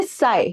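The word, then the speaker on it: psi: Water potential ये जो है ना, इसको हम कहते हैं साई। क्या कहते हैं? साई। ठीक है, पी साइलेंट है, और अगर यहाँ पे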